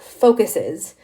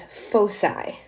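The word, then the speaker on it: foci: the way the plural of focus is not focuses it is fosi that's how we pronounce that and the vertices are the end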